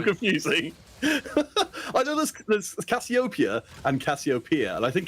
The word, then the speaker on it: Cassiopeia: pronounced in English because in German we say cassopia and in English it's Cassiopeia and it makes me angry